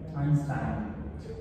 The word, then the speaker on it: Einstein: Einstein se pronuncia así. Einstein. El diptongo EI en alemán se pronuncia AI, entonces es Albert Einstein, no Albert Einstein.